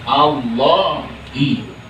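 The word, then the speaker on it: اللهِ: Yang benar di situ harakatnya Allahi.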